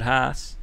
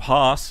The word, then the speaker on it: Haas: If you're going to say what midfield teams at the start of the year, I would have said Haas, or Haas, apparently is how you say it.